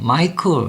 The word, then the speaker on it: Michael: 단어 중에 대표적인 단어인데요 어 미라고 읽는 사람들인데 마이클 이렇게 소리를 내야 됩니다 여기가 크 하는 소리가 되기 때문에 그렇고요 스 skle 크 요거는